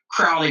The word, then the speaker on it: Crowley: Or pronounce Crowley with a long O.